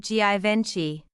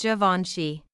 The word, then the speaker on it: Givenchy: Not Givenchy. Correct is Givenchy.